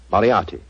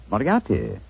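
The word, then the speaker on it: Moriarty: m o r i a r t y mariati mariati I shall remember that name I have a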